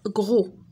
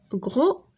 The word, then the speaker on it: gros: macaques couches géologiques alimentera gros gros le s ne se prononce pas grossier joie glisse mines